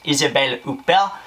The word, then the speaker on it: Isabelle Huppert: an amazing French actress who I love to pronounce her name in a French accent. It's Isabelle Huppert, stars in this as